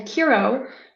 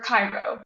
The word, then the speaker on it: Chiron: I actually believe that both pronunciations of his name are accurate because it was the human and horse half, Kiro and then Cairo.